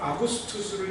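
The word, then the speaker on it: Augustus: 여기에 나오는 아구스도는 그 라틴어 발음으로는 아구스투스를 이야기하는 거예요.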